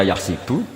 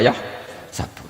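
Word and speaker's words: يحسب: Karena dalam qiraah sab'ah ada yang baca yahsibu, qiraah kita baca yahsabu. Tapi guru-guru kita kalau ngajar fikih itu bacanya yahsibu. Tapi kalau baca Quran yahsabu. Ya kan Quran kita kan ayah sabu Allah yaqdiru alaihi ahad, bukan dibaca ayah sibu.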